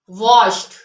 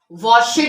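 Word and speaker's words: washed: mostly silent होता है वश वॉशड नहीं पढ़ते हम इसमें अब ई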